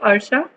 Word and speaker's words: Arsha: Why Arsha? I'm not able to pronounce your name. Sorry. That's how you pronounce it. It's correct.